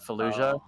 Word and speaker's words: Fallujah: I want to gorge myself on the sense of 6 days in Fallujah. I'm not sure how to pronounce that. Fallujah.